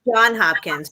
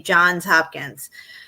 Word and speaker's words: Johns Hopkins: I always thought it was John Hopkins, but I hear everybody pronouncing it like when I hear people in, say, a documentary or something, they say Johns Hopkins.